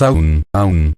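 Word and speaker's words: Aum: El primer paso es A, el segundo es U, el tercero es M. Esos son los pasos obvios. Cuando pronunciamos aún, son 3 palabras. Pero pronuncia aún, largo, y al final la M resuena.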